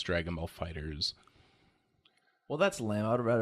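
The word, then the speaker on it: FighterZ: Dragon Ball Fighters, but the S is a Z. And I did see that there was a pronouncer for it. It's not like Dragon Ball Fighters Z. It's Dragon Ball Fighters.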